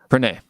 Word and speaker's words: Pranay: that what's up uh perenni i'm sorry correct me if i'm pronouncing your name wrong no that's right well i mean how do you pronounce it i don't wanna intentionally pronounce it it's pranay nice to meet you